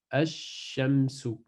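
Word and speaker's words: الشمس: Si la lettre shin vient après le L, on ne prononce pas le lem, donc elle disparaît, et le shin prend une shadda, et ça donne ash-shamsu, ash-shams, comme ça, ash-shams.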